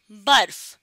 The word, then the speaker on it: برف: اگر ہم اسے پڑھیں برف تو رے کی پوری آواز سنائی دے رہی ہے, لیکن رے کی آواز یہاں سنائی نہیں دے گی, بہت زیادہ ہلکی سی آواز آئے گی. تو اس لفظ کا صحیح تلفظ ہے برف.